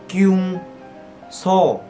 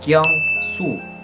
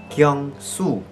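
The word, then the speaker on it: Kyungsoo: Tên thiệt sẽ là Kyung So. No no. Kyung Su. Kyung Su.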